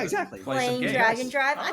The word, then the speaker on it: Drag x Drive: Um but I like I so I played Drag and Drive, which people may think of as Drag X Drive cuz of how it's spelled.